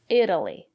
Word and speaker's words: Italy: these examples Italy Italian Italy the syllable after the letter T is not stressed we pronounce the letter t as a fast D Italy I've never been